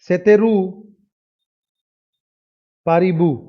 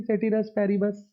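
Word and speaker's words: ceteris paribus: देखो इसकी pronunciation actually होती है सेतेरू पारिबू। ठीक है, सेतेरू पारिबू इसकी एक्चुअल प्रोनाउंसिएशन होती है, लेकिन ये कोई करता नहीं है, करते हैं सब वही सेटिरस पैरिबस। तो आप समझ लो आपको कौन सा करना है। सेटिरस पैरिबस बोलना है तो सेटिरस पैरिबस बोल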